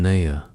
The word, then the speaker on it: Nia: "I am Nia," he said, pronouncing it with a soft emphasis on the second syllable.